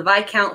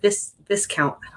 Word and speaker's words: viscount: because Beth taught me it's a by account I always read it at this discount it's a reader thing